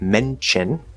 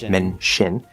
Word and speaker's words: mention: Similarly, in words like mention, which can also be mention, can be a CH or an SH.